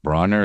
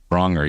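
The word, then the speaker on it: Braunger: Matt Bronner, is that how you say his name, Jeff? Bronger, yeah.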